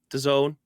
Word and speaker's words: DAZN: i know it does uh how do you pronounce it dazn dazen dazon the zone there you go like is are they the